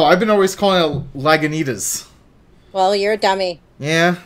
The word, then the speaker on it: Lagunitas: Lagunitas. It's delicious. That's how you say it? Lagunitas. Wow, I've been always calling it Lagunitas.